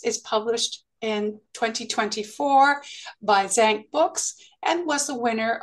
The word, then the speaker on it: Zan: the book correctly um it's actually Zan not Zan so it's thank you